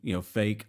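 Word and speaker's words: AFAIK: a long time, because it's the acronym or the shorthand for far as I know, or as far as I know, but you pronounce it fake.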